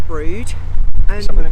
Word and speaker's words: Brewood: But it's spelled Brewood, but pronounced Brood.